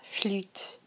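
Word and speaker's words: flûte: la clarinet bus La flute La flute watch this you here remember that French U the really e kind of sound instead of La flute obua it's another one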